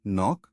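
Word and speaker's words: knock: Silent के pattern knife, no, नी night, नॉक सब में के साइलेंट है।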